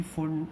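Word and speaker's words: Pfund: Lyman, बामर, Paschen, bracket, P फुन, मतलब फुन सीरीज़ होती है, पी तो साइलेंट है, तो ऐसे करके याद कर लेंगे LBP।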